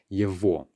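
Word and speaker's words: его: is just a matter of the way we pronounce this yevo okay another example is which of course means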